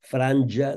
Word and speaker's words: Franja: conforme ens diu el Diccionari Normatiu Valencià, Franja amb J. Franja. I, naturalment, Gaza, la Z sempre, ja ho sabeu, sempre en valencià és sonora. Per tant, hem de dir Franja de Gaza.